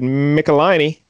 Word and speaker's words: Michelinie: so the creators here we mentioned a David Nicolini yep I learned to pronounce his name and I'm very proud he